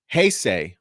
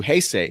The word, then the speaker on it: Heisei: what's up jose uh he says it's pronounced heisei okay thank you hey say hey say error thank you very much